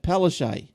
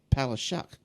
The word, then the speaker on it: Palaszczuk: Now, Premier Anastasia Palaszczuk. Now, apparently I heard someone say that you actually, in wherever country she comes from, it's actually pronounced Palaszczuk.